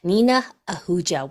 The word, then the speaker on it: Nina Ahuja: am so excited that we have Dr n Nina auua with us did I pronounce it right did I do good yes